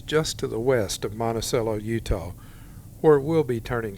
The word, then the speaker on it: Monticello: Our first town in Utah is Monticello. Sitting at over 7,000 feet, this high country town is the gateway to the Abajo Mountains. Fun fact, locals pronounce it Monticello, not like Monticello.